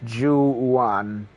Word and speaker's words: Zhu Yuan: life parking lot pronounce jewan little Accent on the Jew part yeah yeah Chinese English